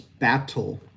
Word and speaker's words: battle: If we say it the way that it's spelled, we use that T, which is unvoiced, and it's battle, right? Battle. Typically, Americans will use what's called a flapped T.